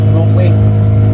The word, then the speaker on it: Nokoué: Et le lac s'appelle lac Nokwe. Le lac s'appelle Nokwe. C'était Nokwe, oui. C'était Nokwe. Et Nokwe c'est habitat de maman. Quand on dit non, c'est maman. Voilà, on disait Nokwe.